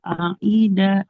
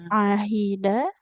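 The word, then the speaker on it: عهد: Alladzina alladzina qolu innallaha aida ilaina. Ahida. Ahida huruf ha ibu ya. Ahida. Ah alladzina dari ulang. Alladzina qolu allina qolu innallaha aida ilai. Jangan ai ahidah. Ha hi hu ahida.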